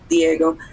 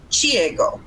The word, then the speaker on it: Diego: Okay, so Diego is almost like a muted T in Spanish. It's not a hard D, but Diego. And then in Portuguese, it's Chiego, so it will create that ch sound.